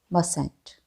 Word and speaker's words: mustn't: Note that in the contraction of must not, T is present, but we don't pronounce it. We have to say mustn't.